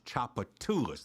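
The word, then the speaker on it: Tchoupitoulas: They're doing the best they can, but somebody ought to take them through a class and say, that's Chapatoulas, that's not T.H.R.I.V.E. or whatever they pronounce it.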